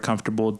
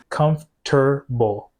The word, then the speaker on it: comfortable: but were insistent that their pronunciation of the word comfortable didn't represent metathesis. I have to disagree with these comments. Cumf-ter-ble. Cumf-tuh-ble. Ter-ble. Tuh-ble. Tuh tuh tuh. And lastly, my absolute favorite comment pointed out that you actually can hear some US speakers use the full four syllable pronunciation.